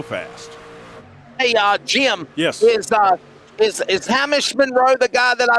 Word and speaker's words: Hamish: I called him Hamish, and finally one day somebody calls him Hamish, and I'm like Hamish, and he's like, well, yeah, that's actually how you pronounce my name. I'm like, you let me work together with you for a year? Exactly. Yes, a year. An entire year he let me pronounce his name wrong. So it's Hamish. Hamish, yes. And he's Australian. So Hamish.